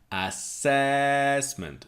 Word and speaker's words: assessment: next word is assessment so three syllables assessment strong silver in the middle assessment assessment assessment is